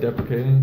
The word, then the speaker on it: deprecating: Is that how you say it? Deprecating.